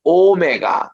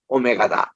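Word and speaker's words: ὦ μέγα: 크히포시 오메가 그래서 우리는 이게 처음일 때도 그냥 알파 이렇게 아가 길어요 알파 그리고 맨 끝에도 오메가 이게 깁니다 그래서 나는 알파와 오메가 갈 때 에고 에임이 호 알파 타이호 오메가 이렇게 해서 알파와 오메가를 그리고 오메가 내가 오메가 시계다 아니에요 오메가 오가 깁니다 그래서 이제 헬라어 제대로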